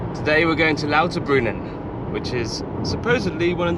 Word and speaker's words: Lauterbrunnen: Today we're going to Lauterbrunnen, which is supposedly one of the most beautiful valleys in Europe, with 300-meter high waterfalls in Father's home country of Switzerland. How do you say it? Lauterbrunnen. Lauterbrunnen.